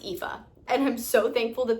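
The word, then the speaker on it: Aoife: that would be like aopa aopi but it's pronounced epha and I'm so thankful that the name pronunciations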